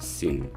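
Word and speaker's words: שׂ: i mean it's still letter shin but we pronounce it as a sin and as you remember uh we had the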